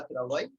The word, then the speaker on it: travail: Okay, travail means work. So W and E are not spoken here. We pronounce it as travail. That's okay. We are silent.